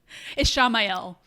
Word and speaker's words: Ishamael: Ishamael, I guess maybe is the better way to pronounce it. Like Raphael. Ishamael.